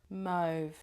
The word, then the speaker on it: mauve: Mauve mauve. I've got a real problem. One of you kindly tried to trigger my memory how to say it's mauve like mo lawn the mo mow the lawn.